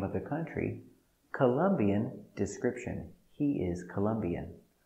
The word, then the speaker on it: Colombian: Colombian description. He is Colombian.